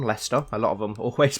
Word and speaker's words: Leicester: yes it looks like light Chester which is how a lot of Americans pronounce the city where I'm from Leicester a lot of them always pronounce it hi Chester let's forget the claims